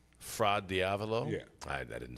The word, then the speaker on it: Fra Diavolo: They're Fra Diavolo.